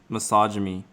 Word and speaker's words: misogyny: i don't know but you're saying it wrong misogyny ah i like your